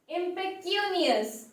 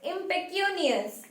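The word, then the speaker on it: impecunious: The last and fifth word is impeccanus. Okay, the pronunciation is impeccanus and it is also an adjective.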